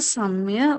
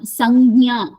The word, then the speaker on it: संज्ञा: Sanya. Samya. Not samya. Sanya.